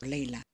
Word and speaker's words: laila: Layla. Which is spelled with an A-E is pronounced more like an A-E, and we can see that here on the chart here.